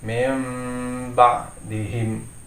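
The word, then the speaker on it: مِنْ بَعْدِهِمْ: ia berubah menjadi Meme jadi membacanya bukan menjadi minergy tetapi member di implisit Saya ulangi lagi meme ba'dihim Hai jadi sini karena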